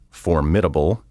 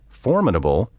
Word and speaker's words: formidable: the primary stress falls many mispronunciations occur because people put the accent on the wrong syllable as my mother was